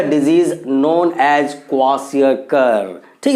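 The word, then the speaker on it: kwashiorkor: के आती है, उस बीमारी का नाम है क्वाशियरकर। क्या नाम है बच्चों? देखिए, सब प्रोनाउंस आप अच्छे से कीजिएगा, क्वाशियरकर।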